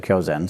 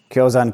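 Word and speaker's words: Kyōzan: shore but even then kyozan yesterday i said kiozen sorry i didn't transliterate that was an incorrect transliteration from the chinese to japanese yangshan is pronounced kyo zan in japanese kyozan wouldn't accept it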